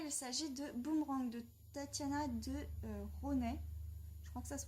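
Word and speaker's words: Tatiana de Rosnay: s'agit de boomerang de Tatiana de Ronet je crois que ça se prononce comme ça je crois qu'on prononce pas le S Tatiana de Ronet donc c'est une découverte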